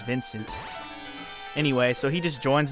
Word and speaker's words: Vincent: I, Vansan, in the name of friendship, renounce my aristocratic standing and I swear Vansan is just like the way he pronounces his own name, even though his name is Vincent.